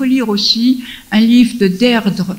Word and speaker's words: Deirdre: Et il faut lire aussi un livre de Deirdre Manifold. Deirdre, ça s'écrit D-E-I-R-D-R-E, Manifold, M-A-N-I-F-O-L-D, qui s'appelle « Le nouvel ordre du monde ».